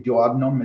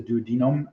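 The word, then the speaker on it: duodenum: uh the duodenome um it's not the diodnum it's the duodome meaning 12 uh so uh I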